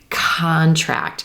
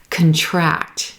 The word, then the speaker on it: contract: which syllable we stress typically when we're stressing that first syllable we're gonna get a noun okay right like contract when we have our second syllable stressed this is gonna be a verb typically like contract to become smaller and these words are